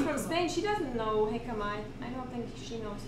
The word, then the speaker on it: jicama: She doesn't know jicama. I don't think she knows jicama, so it's pretty Mexican thing. Yeah, it's a J. You don't say the J.